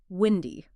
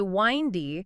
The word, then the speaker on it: windy: The wine versus wind debate. This is a vowel issue. Many learners see the I followed by N and their brain goes to words like find or kind or mind. Looks the same. It looks the same. So they want to say windy. It's really windy today. Which sounds like you're talking about a beverage.